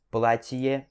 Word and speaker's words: платье: Então, это significa este, платье significa vestido. Aqui temos o merkznak, que ele dá aquela suavizada e também dá meio que uma pausa aqui no meio, tá?